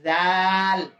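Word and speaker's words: ذال: ইংরেজিতে লেখা বলেন জাল নরম করে জিব্বার আগা দুই দাতের আগা সামনের দুই দাতের আগা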